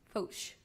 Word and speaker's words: Foch: Not sure how to pronounce that word. Foch. Foch.